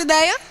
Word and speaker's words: ideia: Qual é a sílaba tônica da palavra ideia? Não é essa aqui? Ideia. Você chama ideia como se fosse um amigo de infância. Ideia.